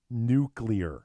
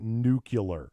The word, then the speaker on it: nuclear: words mispronounced it is nuclear yeah people pronounce it new killer which is something totally different our nuclear like Miller